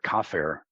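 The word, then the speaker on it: כָּפַר: exactly the same as the Hebrew word kafer for atonement. The only difference is a little vowel point, which didn't exist in the original text.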